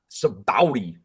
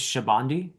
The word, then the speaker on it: Sabaody: Well, I was told early on that the Japanese pronunciation is Shabandi, so that's what I've been doing because it was the first thing I learned.